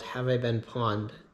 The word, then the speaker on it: Pwned: So on your own, you can go to a website called Have I Been Pawned, spelled, or Have I Been, and then the last word is spelled PWNED.